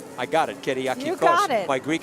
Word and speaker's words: Kyriakikos: You pronounce that one. Kyriakikos. I got it. Kyriakikos.